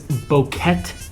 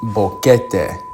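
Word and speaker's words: Boquete: So, first one is Bokeet, Panama, which surprised me. I've heard a lot about Panama. Sorry, we messed this up. It's pronounced Bokeete, and I think we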